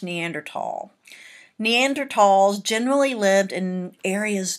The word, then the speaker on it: Neanderthal: we have very very happy Neanderthal it is pronounced Neanderthal many times I'll hear people say at Neanderthal well I want you to get it right it's Neanderthal Neanderthals generally lived in areas dominated by cold